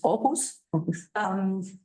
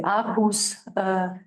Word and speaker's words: Aarhus: In the Danish pronunciation is Aarhus. German is probably Aarhus.